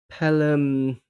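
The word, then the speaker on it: Pelham: Well, PG um I think is Pelum uh Grenville, I think. And how Woodhouse pronounced his first name when he was younger was like pelum plum plum.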